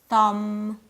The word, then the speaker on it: thumb: In the following words, the B is silent. Comb, doubt, thumb.